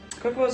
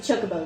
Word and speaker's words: Chocobo: Kokobos are Final Fantasy, right? Or is that... No, it's Final Fantasy. Okay, make sure I'm not losing my mind. I've always pronounced it Chocobo, though.